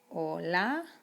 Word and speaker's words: hola: hello in spanish hola you don't even pronounce the h in spanish it is total totally invisible so we say hola or another word you'll